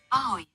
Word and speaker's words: Ahoj: Ahoj.